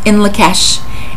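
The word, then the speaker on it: In Lak'ech: that particular phrase, and it is pronounced in Lakesh.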